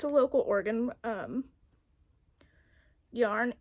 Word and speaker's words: Oregon: here for some reason we say it organ like like an internal organ instead of Oregan Oregon like oregano I don't know I've